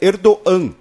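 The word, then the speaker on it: Erdoğan: com circunflexo em turco ele tem uma pronúncia Muda então o nome do líder turco é erdogan não é erdogan É erdogan então enfim a partir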